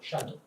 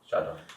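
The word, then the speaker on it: shaddo: Shadow. Shadow. And it rhymes in the passage. It rhymes with lado, which is lad and lado, like decon is deco, Yeah.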